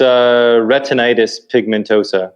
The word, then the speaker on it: retinitis pigmentosa: Do I have the pronunciation right? First off, it's retinitis pigmentosa.